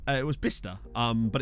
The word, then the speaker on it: Bicester: it's in essex you know it's it was bista um but it's pronounced it's spelt like bicester without the x